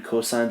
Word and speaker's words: cosine: Cosine's abbreviation cos, still pronounce it cosine, and tangent abbreviation tan.